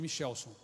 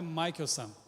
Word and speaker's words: Michelson: Albert Abraham Michelson. Essa é a pronúncia correta. Minha mãe não sabia, me chamou de Michelson. Mas o nome do camarada é Michelson.